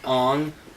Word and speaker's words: Aang: I know that, like, in Chinese or some sort of Asian language, that is the correct pronunciation of Aang. It's Ong.